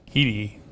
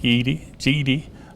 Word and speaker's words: Guede: His name is Steve Guede. I have so much problem with that, but it's spelled G-U-E-D-E, but it's pronounced G-E-E-D-E-E.